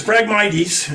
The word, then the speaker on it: Phragmites: Phragmites, is how it's pronounced.